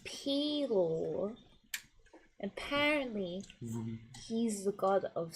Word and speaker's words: Pelor: So I learned that a Palor is actually pronounced Pelor.